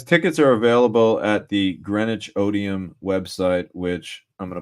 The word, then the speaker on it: Greenwich: And Greenwich is spelled kind of funny. It's Greenwich, it's how it's spelled.